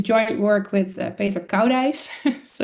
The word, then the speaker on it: Koudijs: It's joint work with Peter Koudijs, so it's not very easy to pronounce, but it's Koudijs.